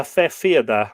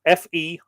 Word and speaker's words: fethfiada: Druids and others could raise or produce a fefiada or fethfiada. So it's pronounced, or sorry, it's spelt different ways. Here, FE-FIADA or FETH hyphen FIADA. So I imagine it's the TH is rendered silent. So it's fefiada, the fefiada.